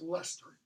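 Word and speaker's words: Leicester: his body gets buried an autumn 2012 let's pronounce Lester not like just Lester dear digging doing infrastructure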